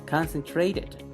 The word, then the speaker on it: concentrated: vamos a pronunciarla concentr concentrated ven concentrated concentrated recordemos que las vocal muchas veces la t cuando está entre vocales la vamos a pronunciar como una r como el loro concentrated tenemos invent invented test